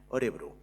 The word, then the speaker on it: Örebro: Va costar bastant pronunciar Örebro d'aquesta manera, Örebro. I recordo el dia que